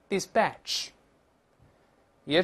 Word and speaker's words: dispatch: 我们大声来一遍，dispatch。注意这个 p 要浊化，不是 dispatch 啊。再来一遍，dispatch 也是指打发或者派遣。